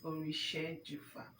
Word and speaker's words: Orishejufa: So tell us, you pronounce that your surname again. okay. The surname is Orishejufa. Wow. Yeah. We shared you far.